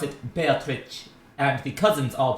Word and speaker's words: Beatrice: to weigh in here the japanese pronunciation of this name follows the italian pronunciation beatrice but um but one